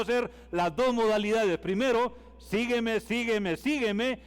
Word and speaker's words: sígueme: Vamos a hacer la siguiente modalidad con la palabra sígueme. Resulta que en gramática tiene 3 sílabas, entonces es sígueme. Entonces, si vamos a la gramática, también dice que la tilde es en la I, sí.